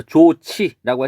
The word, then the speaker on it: 좋지: 그래서 좋지라고 했을 때는 히읗과 지읒이 만나서 치읒이 됐습니다.